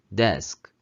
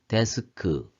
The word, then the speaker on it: desk: 2번의 책상도 desk 에서 발음을 해야 되는 건데 여기서 끝에 있는 스, 크 이런 식으로 발음을 음가의 소리를 내서 발음을 하다 보니까 데스크 이렇게 발음하는 경우가 있습니다.